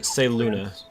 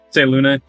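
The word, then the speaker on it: Selûne: giggling a little bit it's pronounced say luna say luna yeah uh that uh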